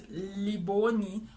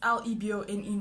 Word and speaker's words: Lebone: And they didn't have a picture of me, so one of the girls was like, where's Liboni? Which she spelled my name wrong. It's Lebone, not Libone.